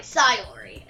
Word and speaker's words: Sayori: Sorry, Sayori.